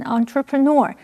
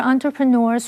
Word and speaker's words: entrepreneur: 这篇文章的第一个重点，我们看 entrepreneur 这个名词。EUR 这个字尾是指人，所以 entrepreneur 是指企业家或创业家。至于它的重音是在最后一个音节念成 entrepreneur，也有人念成 entrepreneur。我们来看一个例句：Several major entrepreneurs were invited as guest speakers in this forum。这个论坛邀请了几位重要的企业家担任客座讲员。或者是